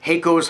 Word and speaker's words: Haico: I was pronouncing it wrong, and I want to correct that mistake whenever possible. So, Haico's hot sauce, Devil's Brew, product of Ontario, Canada.